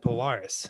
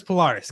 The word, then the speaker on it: Polaris: saying that because like every australian guy interviewed on the show said polaris so apparently it's polaris guys not polaris as the americans say i didn't realize we